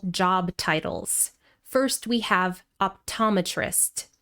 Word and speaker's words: optometrist: First we have optometrist. Stress on the second syllable. Optometrist.